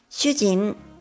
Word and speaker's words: しゅうじん: And shujin is a husband, but with an extra vowel, u, it becomes shujin, the Japanese word for a prisoner.